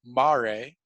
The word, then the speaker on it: mare: i know it looks like maria but it's pronounced mari singular as mare and that is the latin word for seas